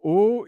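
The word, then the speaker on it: aux: and it's the contraction of al and it's because we don't say al we say o a u x and we don't pronounce the x as we don't pronounce the s.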